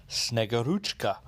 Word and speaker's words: Snegurochka: a character known as snegoruchka and that is pretty much how you pronounce it uh sort of